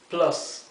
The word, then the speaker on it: plus: Sum plus. Plus. Fíjense cómo la U, como en casi todos los casos en inglés, la U se pronuncia a.